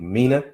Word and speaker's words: Mina: And we have, I think, Mina. Is that how I pronounce it?